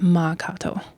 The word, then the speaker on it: Mankato: into mankato um but actually mankato is a dakota word it's ma kato and so you know